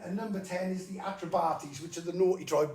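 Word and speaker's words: Atrebates: number 10 is the atribati's which are the naughty drive basically the ones that messed it all up the attributes is how it's pronounced but um there's a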